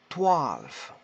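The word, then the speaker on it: twaalf: elf pour 11 12 on dira toile alors je dirais même le w peut se prononcer un v max en tuiles valls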